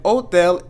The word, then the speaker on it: hotel: way in English, but here we're going to be saying hotel, and we're not going to be saying the H here because the H is silent.